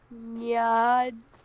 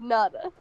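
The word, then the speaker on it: Njada: The J makes a Y sound. Nyada. Nyada. You just said Nada.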